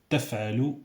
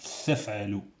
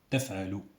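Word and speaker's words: تفعلوا: Taf'alu, c'est pas thaf'alu. Taf'alu.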